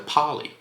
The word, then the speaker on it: Parley: I'm going to assume it's pronounced like parsley, but without the S, so Parley.